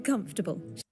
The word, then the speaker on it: comfortable: It's not comfortable. Even though Even though you see in the spelling four syllables come, but it's pronounced comfortable as three syllables in this accent, of course.